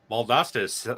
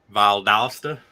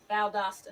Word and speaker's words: Valdosta: that's not far away from me at all baldusta's south of uh oh i'm thinking of ideally one hour north of tallahassee okay okay yeah you're pronouncing that wrong valdosta valdosta valdosta yeah that's how my wife just said